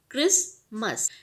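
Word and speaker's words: Christmas: को हम राइटिंग में तो यूज़ करेंगे, बट जब हम इसको रीड करेंगे तो उस टी को हम यूज़ नहीं करेंगे। इसको हम क्रिस्ट नहीं बोलेंगे, हम बोलेंगे क्रिसमस। नेक्स्ट जैसे मैं दिवाली की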